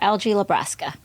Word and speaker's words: Algie LaBrasca: We have, and I'm going to pronounce it correctly, Dr. LG Lebrasa.